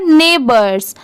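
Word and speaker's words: neighbours: एच आई एस हिज ये है नेबर्ड्स। इसे क्या पढ़ेंगे? नेबर्ड्स। इसकी स्पेलिंग भी आप याद कर लीजिए।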